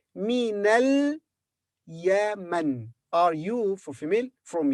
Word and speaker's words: من اليمن: This alif in the beginning of this word is not pronounced. So we say minal Yaman.